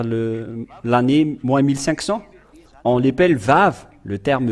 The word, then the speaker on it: vav: vous dire voilà le vave euh que ce soit l'hébreux carré ou l'hébreux archaïque ou bien l'araméen impérial il lissent ils lisent tous ensemble que c'est V que ça se prononce il faut enlever un